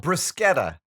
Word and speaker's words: bruschetta: Oh, bruschetta. Bruschetta. Bruschetta is the way people mispronounce it. Bruschetta is the correct Really? pronunciation. Well, there you go. That's an Anglo versus Italian thing, right?